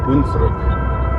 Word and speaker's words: Hunsrück: Hunsrück.